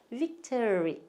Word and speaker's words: victory: 우리 어릴 때 그냥 천군 이겨라 백군 이겨라 할 때 그냥 빅토리 막 그랬는데 빅토리가 아니고 victory 예, 이렇게 하셔야 돼요.